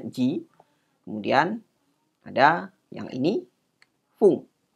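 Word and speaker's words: 時: Ya, dua huruf kanji ini, yang ini adalah ini adalah ji, ya. Itu jam, bacanya ji.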